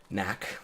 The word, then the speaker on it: knack: stream for grown adults we're playing knack with a k it's how you know it's fancy because only fancy things are spelled with k a silent k mind you things with